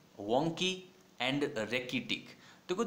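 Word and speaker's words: rachitic: तो रेकिटिक जो वर्ड है, क्या प्रोनाउंसिएशन है इसका, रेकिटिक। क्या वर्ड, रेकिटिक।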